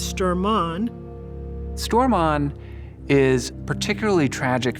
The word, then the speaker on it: Sturman: Among these men was a young man whose name we now pronounce Stormont.